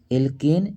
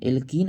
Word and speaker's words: एल्केन: देना है उच्चारण पर जैसे ही बोलेगा एल्केन बोला एल्केन तो लास्ट में आया एन लास्ट में आएगा एन ठीक और जैसे